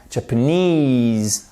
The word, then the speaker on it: Japanese: Japanese. Vous avez votre accent tonique sur la fin.